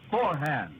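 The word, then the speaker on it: Forhan's: It's pronounced forehand.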